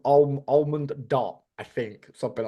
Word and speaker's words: ALMONDot: letters without of space so it's obviously supposed to be read as almond dot but yeah it's spelled